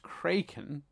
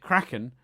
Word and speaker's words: Kraken: um because the word is supposed to be pronounced cren but when Kevin MCN who I'm not sure